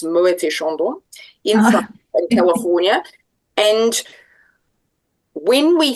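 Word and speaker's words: Moët & Chandon: I was lucky enough to work for Mo and Shandon in in pronounce the T, it's Muet Shandon in California.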